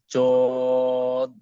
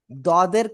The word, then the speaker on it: ضاد: জদ, ওয়াদ, জদ, direct জদ বলতেছেন আপনি, এই যে এই উচ্চারণ করতেছেন ডাইরেক্ট, এই উচ্চারণটা ডাইরেক্ট করা যাবে না। ঠিক আছে? এটা করা যাবে জি, না। আশা করি ক্লিয়ার। অনেকটাই আপনার দদের কাছাকাছি যাবে। দদ, ঠিক আছে?